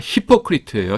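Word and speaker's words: hypocrite: 아 센트가 앞에 있습니다. 히포크리트예요.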